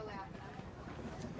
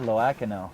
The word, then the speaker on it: Loano: Claudia Lako. Claudia Loano. Wow. Thank you. I I needed that pronunciation.